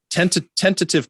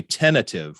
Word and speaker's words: tentative: plans yeah tentative um tentative plans which is the right way to say it but I think that people say tentative which you get rid of that t and now I'm thinking